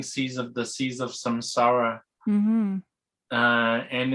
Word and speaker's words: samsara: not saying that right how do you say that surviving samsara samsara s-a-m-s-a-r-a samsawa is the